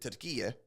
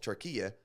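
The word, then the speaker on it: Türkiye: were from Turkey uh Tura is how they would actually pronounce their home country so now all turkey is doing in their new Rebrand where they're asking to be called Tura in like an American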